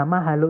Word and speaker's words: mahalo: Nah, mahalo itu terdiri dari tiga suku kata, 3 syllables, teman-teman, yaitu ma, sorry, ma, kemudian ha, kemudian lo.